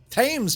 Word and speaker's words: Thames: thames everything isn't it the river thames times to you and i but hems they say thames your way of pronouncing